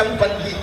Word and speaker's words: சம்பந்தி: சம்மந்திகளை உச்சரிப்பே தப்பு. சம்மனா நல்ல மந்தினா குரங்கு, வாங்க நல்ல குரங்கேங்கிறான். அவரை ஆமா குரங்கேன்னு சோறு நின்று போறாரு. அப்படியா சொல்றது? தமிழ் உலகத்துல நம்ம அப்படி சம்மனா நல்ல, பந்தம்னா உறவு, வாங்க நல்ல உறவேன்னு கூப்பிடுறோம். சம்பந்தி பாகவர்க்கா கசக்குது இல்ல?